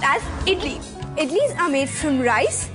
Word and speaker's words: idli: perfect snack spelt as idli and it is pronounced as idli idlis are made from rice and lentils i